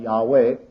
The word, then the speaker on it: Yahweh: His very name we have the Hebrew tetra grammaton which we normally pronounce Yave or something along that line. Yahweh and that means the eternal.